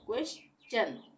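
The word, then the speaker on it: question: क्वे चन यानी कि यहां पे चन का उच्चारण होगा क्वेश्चन क्वेश्चन का मतलब प्रश्न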